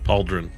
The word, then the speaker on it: pauldron: compute of that spelling pauldron PA like the D and Jon like Tron with a d I don't know man